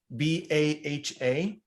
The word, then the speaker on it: Baha: yes it's actually uh is an arabic word that means glory or splendor how do you spell that b-a-h-a okay so baha is